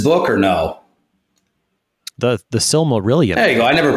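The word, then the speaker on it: Silmarillion: great book written by JRR tolken called the Similan have you read this book or no the the sil marilan there you go I never pronounced anything right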